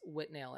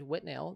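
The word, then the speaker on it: Withnail: her favorite movies was whitnail and I spelled like with nail and I uh and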